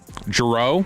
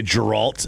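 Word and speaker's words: Gerault: nobody pronounces correctly JRo JRo and they have people say Geralt and even they they mean they live on the road and they say Gerald But everyone knows it's Jerro.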